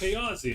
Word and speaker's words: Chaosium: Uh uh uh C H A O S Chaosium.